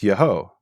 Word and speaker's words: Yeho: And what we find is at the end of a name, it's always Yahu. Right. Now that contrasts when the Yud He Vav is at the beginning of a name, and it's not Yahu. At the beginning of a name, it's Yeho. So we have the same exact name, Netanyahu.